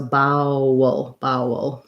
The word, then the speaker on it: bowel: And then bowel, you're going to have the vowel is going to be in the second syllable, and the first bow is like the brown cow diphthong. So bowel. And you can kind of think of this again as being an or an and a schwa before the dark L.